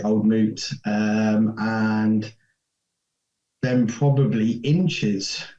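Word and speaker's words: Old Mout: I say it right is it old melt or moot moot moot yeah fruit okay okay old moot um and then probably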